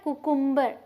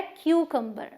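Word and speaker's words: cucumber: लेकिन यहाँ पे वाई तो नहीं है, बट इसे हम क्यू बोलेंगे शुरू में, क्यू, और फिर इसे हम क बोलेंगे। मतलब एक यू की प्रोनाउंसिएशन यू है और एक यू की प्रोनाउंसिएशन अ है, तो ये है क्यूकम्बर।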